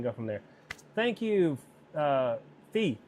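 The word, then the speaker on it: Phi: Thank you, Fee. How do you say your name? Is it Fee? Full? I know it's pho when you say pho, P-H-O, but I'm not sure how to say P-H-I.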